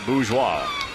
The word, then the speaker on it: Bourgeois: It is fun to say Bourgeois. B-O-U-R-G-E-O-I-S. You know how I spell that? B-O-O-Z-W-A-H. Bourgeois.